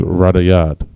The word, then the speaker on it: radayad: All right, and veil in the Hebrew is radayad. Radayad. Ra, da, ya, and da. Radayad. All right, let's get a couple more up here before the end of class today.